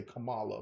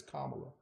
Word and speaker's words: Kamala: say her name properly they say Kamala but it's Kamala um but with Harris